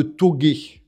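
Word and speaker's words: tōge: s'appelle une épreuve de togé. C'est prononcé, c'est un mot japonais. Togué, ça veut dire montagne.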